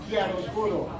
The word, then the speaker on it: Chiaroscuro: How do you pronounce the name of your album, Pancho? Chiaroscuro.